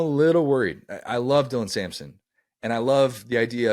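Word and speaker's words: Sampson: Hunter by the way Simpson now is or Samson wow we're we're we're not We're Not Gonna mispronounce his name he is he is ear the right to have his name correctly pronounced dlan Samson now is 69 more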